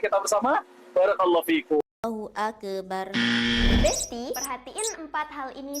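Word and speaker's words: أكبر: Ak ak dan yang keempat ro sukun di akhir itu suaranya tebal. Soalnya sebelum ro ada huruf berbaris atas bar akbar. Jadi cara baca takbir yang tepat adalah Allahu Akbar.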